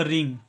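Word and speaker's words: wring: अब next word देखिए देखिए इस वर्ड में डब्लू साइलेंट होता है इसका कोई आवाज नहीं होता है ठीक है इसमें हम लोग आर आई एन जी का सिर्फ उच्चारण करेंगे तो आर का उच्चारण होगा र ठीक है आर का उच्चारण होता है र और आई का उच्चारण करेंगे छोटी ई एन का उच्चारण करेंगे न और जी का उच्चारण करेंगे ग ठीक है इसका उच्चारण होगा रिंग और रिंग का मतलब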